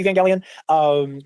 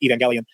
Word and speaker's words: Evangelion: So I was like, "I think it's a soft G, but that is just been The soft G is the Gellion. The hard G is the Gellion. Either way, I've always said Gellion.